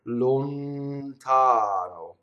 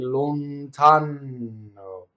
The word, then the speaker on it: lontano: Like if I say lontano, notice that the second N is a single N. Why? It's surrounded by vowels, right? So again, if I say the word lontano, now I'm saying it very slow and exaggeratedly, right?